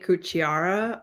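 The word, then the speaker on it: Kuciara: can't never pronounce it it's mache cuchiara um so you spell that as m-a-c-i-e-j yeah and his last name is k-u-c-i-a-r-a um and anybody who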